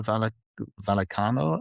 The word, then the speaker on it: Vallecano: And then the other one is Rayo Vallecano. Is that how I pronounce it? Vallecano.